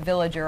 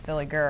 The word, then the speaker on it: Villiger: know uh I get villager all the time but it's Hooked on Phonics it's with an i and not an A so it's Philly G it's just like a